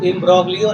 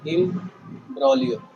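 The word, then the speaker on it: imbroglio: अभी देखो, इसमें इसको इम्ब्रोग्लियो नहीं पढ़ते हैं, इसको पढ़ते हैं इम्ब्रोलियो।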